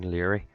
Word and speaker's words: Laoire: That's High King Laoire. That's actually how you pronounce that, Laoire.